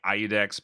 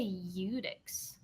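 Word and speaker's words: Iudex Gundyr: So how do you say Edicts Gunder? I've heard people I say. say Iudex, but I don't proclaim to know that that's right. That's Do you know? I say Udix.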